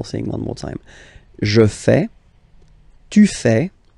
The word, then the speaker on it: fais: So le verbe faire, je fais. Je fais. Remember, final S not pronounced. Je fais.